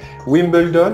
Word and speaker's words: Wimbledon: bien c'est exactement ça wimbledon on le prononce comme en anglais et puis us open